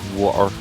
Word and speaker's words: water: Dude, but you don't pronounce the T in the word water. You do What?